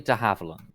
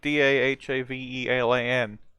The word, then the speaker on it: de Havilland: I assumed it would be something like Dahavelan. oh, I will put it in Lobter. De Havilland. De Havilland.